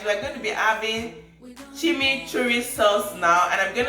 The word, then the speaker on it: chimichurri: very comfortable now yes let me try and pronounce it chumi cherry sauce no it's cheesy okay chew rice okay chimichurri sauce yes i got it it's a chimichurri sauce